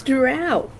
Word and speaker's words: drow: But I will stab anybody who tries to say it's dro and not drow because that is just fucking wrong. It's Drow.